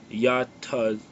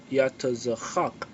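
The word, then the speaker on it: יצחק: The word Isaac in the Hebrew, it means he laughs, you know, or laughter, and how you pronounce it in the Hebrew is yatazachak, yatazachak, you know, meaning laughter.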